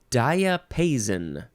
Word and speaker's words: diapason: flower that's pink I guess the next word diapason diapason or diapason diet yeah that's how you say it d-i-a-p-a-s-o-n noun from Circa 1501 1A a burst of